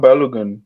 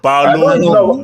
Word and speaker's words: Balogun: But Elijah, don't you guys have a Folarin Balogun as well? Wait, hold on. Kenny, say. So Kenny, you don't know how to pronounce in Nigeria. No, that's how they pronounce his name over there. Balogun, not Balogun.